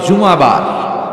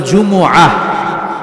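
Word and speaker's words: জুমুআ: সূরাটার নাম হচ্ছে সূরাতুল জুম। আমার সাথে সাথে বলেন সূরাতুল। জুম। সবাই বলেন সূরাতুল জুমা। অনেকে বলে ফেলে জুমা। জুমা আসলে আরবিতে শুদ্ধ উচ্চারণটা হচ্ছে জুমু সূরাতুল জুমু এই সূরাতে দুইটা রুকু আছে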